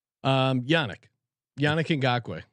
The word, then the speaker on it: Yannick: his first name um yannick yannick way did you know it's actually unique unique yeah shout out to